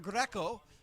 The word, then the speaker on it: Greco: Ezra Greco. You have to roll your R otherwise you just don't count.